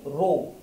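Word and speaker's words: rho: ইংরেজিতে কি বলা হয় রো এইচ সাইলেন্ট থাকে রো রো একচুয়ালি কি রো একচুয়ালি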